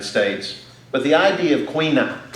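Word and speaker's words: caoineadh: but the idea of Queen up which is the way it's pronounced in the Irish version of Gaelic which also translates as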